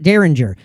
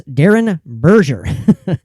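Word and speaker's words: Derenberger: wrong his name wrong it's not derringer it's darren berger woodrow darren berger now there's a book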